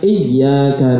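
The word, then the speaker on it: إِيَّاكَ: Bacanya harus ditekan iyyaka na'budu wa iyyaka nasta'in.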